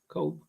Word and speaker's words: Cobe: interesting uh the the have you always pronounced it Kobe Kobe cope sounds both ways it's usually cope so yeah I'll switch